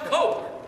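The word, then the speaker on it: Koch: people better and better their last name's actually pronounced Coke and those Coke brothers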